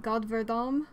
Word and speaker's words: godverdomme: Another one I use whenever my mom's not around, I say God verdomme, which means God damn it. It's another rough G. I don't even know how else you would pronounce the letter G.